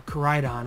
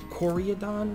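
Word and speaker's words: Koraidon: the secret rare uh Corydon which I now can pronounce it properly and I know you guys saw in the short or no in the early box opening I said coriadon or something I don't know I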